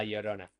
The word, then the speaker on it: Llorona: We here in Argentina have the way that we pronounce the double L is as if it was SH in Mhm. English. So it sounds like sh. So it is La Yeah. Llorona for us, not La Llorona.